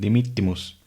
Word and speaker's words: dimittimus: Con las dobles consonantes se pronuncia la primera letra y a la mitad se pronuncia la segunda. Entonces terminamos con dimittimus.